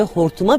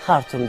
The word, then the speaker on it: Hartum: Kent Nil Nehri'nin kıvrımları hortuma benzediğinden bu ismi almıştı. Şimdilerde Türkler bile kente İngilizlerin telaffuzuyla Hartum diyorlar ama Sudanlı için Hartum hep Hortum olarak kalmıştı.